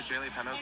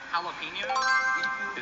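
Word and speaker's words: jalapeños: You know where the Jay Penos are?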